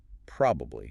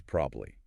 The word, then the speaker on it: probably: In careful, slow speech, you might hear three clear syllables. Probably. Mhm. But ask any native speaker, in a quick conversation, and it's almost always probably. We just drop that middle vowel sound entirely. Three syllables become two.